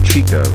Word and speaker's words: Chico: His name is Chico. It rhymes with the other one.